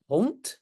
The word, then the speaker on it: hond: Oui, donc c'est hond. En néerlandais officiel aussi, le D à la fin, on prononce comme T, oui.